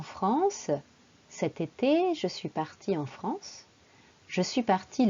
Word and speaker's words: partie: Je suis partie. Vous voyez, il y a le féminin en rose, partie, et le masculin, partie, en bleu. C'est la même prononciation.